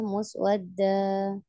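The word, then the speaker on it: مسودا: Seharusnya dua harokat ya, muswadda.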